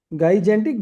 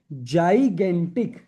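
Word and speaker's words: gigantic: जगेंटिक गजेंटिक गजेंटिक जजेंटिक। हालांकि आपको आएगी नहीं प्रोनाउंसिएशन सर जगेंटिक तो इसको हम प्रोनाउंस करते हैं जगेंटिक।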